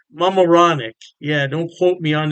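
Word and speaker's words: Mamaroneck: York state Poughkeepsie and I believe is pronounced moronic mamaronic yeah don't quote me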